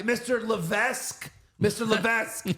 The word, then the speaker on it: Levesque: they're back say Mr Levesque Mr Levesque not Levesque you don't pronounce the S it's just l l